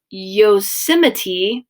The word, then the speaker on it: Yosemite: In 1864, Congress is going to give up 10 square miles of Yosemite, that's how you pronounce it, out in California, and it's going to become a national park.